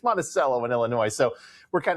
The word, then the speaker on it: Monticello: I am from Illinois, and in Illinois, we have a lot of towns that have weird pronunciations, and like Monticello, Illinois. Anywhere else would be Monticello, but hey, it's Monticello in Illinois.